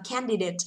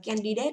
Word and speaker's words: candidate: Và candidate, từ này không đọc là candidate, hãy đọc là candidate, ok?